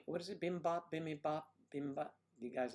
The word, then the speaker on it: bibimbap: Bimbap, bibimbap, bimbap? Do you guys like that? I forget how to say it. I always say bimbap, but there's an extra syllable in there.